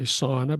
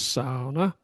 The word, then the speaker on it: sauna: You know, the big thing in in uh in Finland is the sauna, as we say, sauna, but they say the correct pronunciation is sauna.